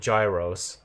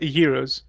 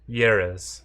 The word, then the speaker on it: gyros: Gyros. Uh they're called euros. Yuros.